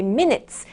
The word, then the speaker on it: minutes: 자, 이번 문장에서 여러분들의 minutes, 이 발음은 조금 짧고 간결하고 세련되게 발음하시면 좋을 것 같아요. minutes, minutes, 짧게 발음하시면 됩니다.